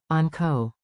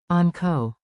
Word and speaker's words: onko: Clap two beats, on co, on co. Now say it with a rising question tone.